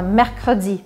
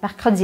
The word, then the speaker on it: mercredi: Por exemplo, este E, a gente fala mercredi, mercredi, ele praticamente desaparece.